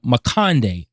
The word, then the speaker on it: Luti Mikode: hold of this book, he actually breaks down how the Guadalcanal people say his name. They say his name in 2 different ways. One side of the island calls him Luti Mikode. The other side of the island calls him Makande.